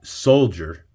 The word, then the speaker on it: soldier: If you can't put it together about the word soldier and how it's spelt, because it gives a G-E-R sound, okay? Nowhere in the word soldier do you have a G that can get you to that sound.